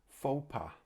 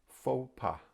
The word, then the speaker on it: faux pas: to look at is faux pas faux pas so this as you can tell from the sound i guess comes from french and it's like a